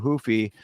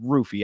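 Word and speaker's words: Ruffy: me this is Mauricio hoofy versus King Green it's actually Mauricio rufy I keep doing the the the uh Portuguese pronunciation but he pronounces it with the r and it's not even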